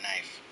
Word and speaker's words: knife: I I'm just thinking about I've never really thought that the K in knife was was silent. It is silent.